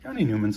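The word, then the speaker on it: Jani Nyman: Yanni Newman's a good one. Even bigger development. I figured out how to say his name and it's Yanni Newman.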